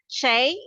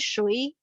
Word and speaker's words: 谁: Nah, bahasa Mandarinnya yang baru kita bilangnya Shay, kita bacanya Shay. Kalau kakek-kakek kalian dulu mungkin ya, kamu dengar kakek kamu bilang, nggak usah dulu kakek saya bilang siapa, bukan bacanya bukan Shay, tapi dia bilangnya Shui. Itu sama aja, cuma itu ejaan zaman dahulu kala lah, Shui gitu ya.